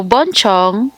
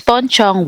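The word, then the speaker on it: Buncheong: l so upon checking so Bon Chong or Pon Chong is the name of the ceramic so it's Pon Chong wear it's not war where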